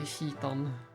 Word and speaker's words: Citan: And of course, I always say Citan. That is my pronunciation for Citan. Even if I know it should be Chitan. The more correct way to say it would be Chitan. But it is hard. It is hard to relearn once you have started saying one thing.